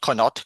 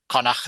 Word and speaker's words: Connacht: It's not Connaught. Connaught is the is the English way of saying it. Connacht is the correct Welsh way of saying it.